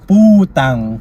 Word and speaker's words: putang: Is it puntang na mo? No, it's putang.